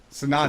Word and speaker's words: Sanatan: So, the A that everyone ignores is actually the last A, not actually the...